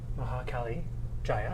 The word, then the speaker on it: Maha Kali Jaya: And I'm actually joined today by Maha Kali Jaya.